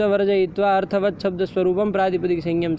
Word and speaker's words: वर्जयित्वा: जी प्रत्यांत धातुम प्रत्ययम प्रत्यांतम च वर्जित दो य नहीं भाई, य बोलो तो, या वो आवाज थोड़ी निकाल करके या तो क्या बोल तो पा रहे हो दो य, तो क्यों फिर उधर अशुद्ध उच्चारण कर रहे हो?